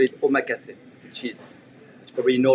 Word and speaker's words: omakase: Something really cool that you do is your, and I'm going to mispronounce it, Omakase? Omakase.